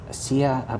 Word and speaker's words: Sia: So we can hear some of that first part of my interview with Sia. That's how you spell her last name. And Sia is spelled CIA.